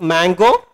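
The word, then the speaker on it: mgo: So this is the driver for MongoDB, pronounced Mango.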